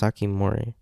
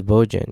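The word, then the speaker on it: 防人: It's pronounced Sakimori. No way, I thought it was Bojin.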